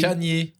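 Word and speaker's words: Kanye: tuer je peux tuer des gens qui disent Kenny West c'est ouais tu dis comment je dis comme ça se dit en fait mais comment ça se dit ben comment ça s'écrit Canier Canier il s'appelle Canier en fait mais SAF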